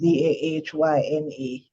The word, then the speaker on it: Dana: and I think so her name pronounced Dahyna.